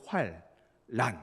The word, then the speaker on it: 환란: 남자가 붙을 때에는 예 이게 자음 동화 현상이 일어나는 거죠 그래서 앞에도 활 란 이렇게 발음 되는 겁니다 그런데 이것은 그 인심과